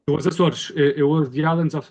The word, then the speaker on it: Açores: of moving to the, however you say it, Azores, as a lot of people in America say, or the Azores if you're British, all those different ways of pronouncing it.